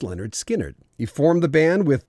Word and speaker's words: Lynyrd Skynyrd: they released their first album pronounced Leonard Skynyrd he formed the band